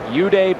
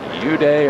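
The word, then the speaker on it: Eude: Uday or Weeday, E-U-D-E is how you spell it, is going to pitch tomorrow night.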